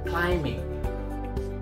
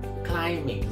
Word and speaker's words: climbing: Climbing. Climbing, not climbing. Once again, not climbing. Silent B. Climbing.